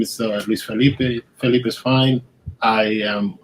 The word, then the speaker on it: Felipe: Yeah, Felipe is fine.